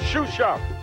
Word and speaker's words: Xuxa: A name that's pronounced Xuxa, even with its unlikely spelling, X-U-X-A, may become very familiar very soon.